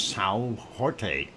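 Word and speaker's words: São Jorge: of Saint George or if you want to pronounce it in Portuguese as Sal Jorte if I said it right and that is on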